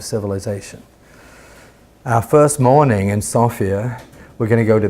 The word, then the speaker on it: Sofia: Our first day will be in Sofia. That's what they call it, not Sofia. I always thought it was Sophia, but it's pronounced Sofia.